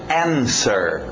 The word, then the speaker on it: answer: isso vamos ver então cuidado o w não entra na pronúncia to answer sem o w sir no final to